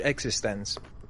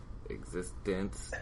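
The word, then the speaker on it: eXistenZ: Speaking of And space Rob, cowboys, your homework is to watch Existence.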